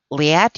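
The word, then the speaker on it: Liat: I'm Li At. Li At rhymes with fiat.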